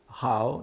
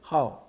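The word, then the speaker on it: 好: des différences de prononciation, au sens adjectival de ko, hao, n'est-ce pas, c'est au troisième ton, et au sens verbal, c'est hao, quatrième ton.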